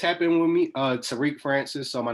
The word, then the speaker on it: Tarique: social media man it's happening with me uh Tariq Francis so my name is spelled t-a-r-i-q-u-e Francis f-r-a-n-c-i-s follow me on social